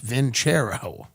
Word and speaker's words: Vincero: Vincero is pronounced Ventero.